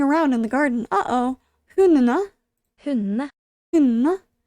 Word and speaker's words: hundene: Hundene. Hundene. Hundene. Don't really pronounce the D.